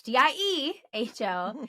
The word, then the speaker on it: Diehl: Your I, so my name isn't spelled like Deal, it's Diehl.